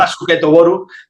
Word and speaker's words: Basuketo Boru: Basuketo Boru, pero es que es baloncesto en japonés, que fue cuando la